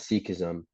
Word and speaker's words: Sikhism: Typically, our religion is referred to as seekism and we are referred to as Sikhs.